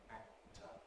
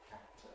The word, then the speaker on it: actor: And then we have an alveolar offset, so we know that it was alveolar as well, actor, actor.